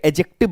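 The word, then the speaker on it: adjective: इसे एडजेक्टिव बोला है डी के बाद आपका जे है इसे आप क्या बोलेंगे एडजेक्टिव बोलेंगे डी आपका साइलेंट रहेगा जस्ट लाइक दैट हमने यहां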